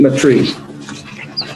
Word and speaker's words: Maitre: Maitre. Yes, RE is silent.